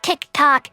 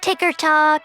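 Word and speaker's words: TikTok: mea first of all it's tick tock numbnut not ticker talk or ticker tick tick talk or whatever other way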